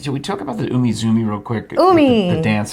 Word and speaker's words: Umizoomi: And so I love that you're calling it Team Umigoomi. Well, now that I realize I've written down, I wrote it correctly. I didn't spell it right, but I did look. Obviously, I wrote Team Umizoomi.